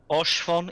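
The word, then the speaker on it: Haurchefant: Orshfon? Have I been saying it wrong? Orshfon is correct.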